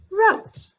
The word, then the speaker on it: wrote: w r w is silent what's the word wrote w r w is silent what's the word wrong g n g